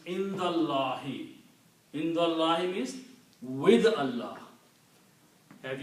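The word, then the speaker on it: عند الله: to a kasra, and you don't pronounce this alif, so the word becomes Indallahi.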